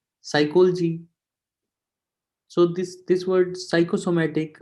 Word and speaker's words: psychology: english when we say psychology nep before s is silent psychology so this this word psychosomatic whatever the word though start with psyche so the p is always silent when it comes with s that's why sodius is